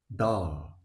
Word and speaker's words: dağ: about it is that this letter usually lengthens the vowel before it. dağ dağ yağmur yağmur When we pronounce dağ, it can sound something like dağ. So, the soft g lengthens the preceding vowel here.